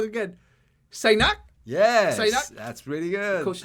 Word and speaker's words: Saignac: oh no I'm gonna say your last name wrong again sinak yes that's pretty good coach sinak and